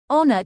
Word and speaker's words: honor: finding he is blank honor to his country foreign ER to his country the edge in honor is silent the word begins with the vowel sound shown on the screen